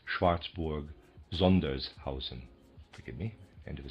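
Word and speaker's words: Schwarzburg-Sondershausen: might easily have replied Schwartzborg Zunderhousen or Zandersha or Rice Schlitz or something similar. I believe that is Schwartzborg Zundershausen.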